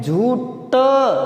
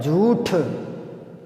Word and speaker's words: झूठ: झूठ नहीं होता, ठ होता है, झूठ।